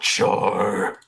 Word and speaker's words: Char: And the Dean of Fabrication, definitely not Char. I'm glad you pronounced it right.